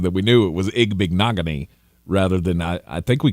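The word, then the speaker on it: Igbinoghene: That was the only reason that we knew it was Igbignogany rather than I think we called him like Ibenajay for a while.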